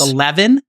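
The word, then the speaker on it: E11EVEN: some Dom um there's a club called 11 that's spelled E11 e v e n uh I think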